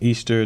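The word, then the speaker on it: Eostre: So one of the common names for this particular goddess that is associated with Easter is still pronounced Easter, but it's spelled E-O-S-T-R-E.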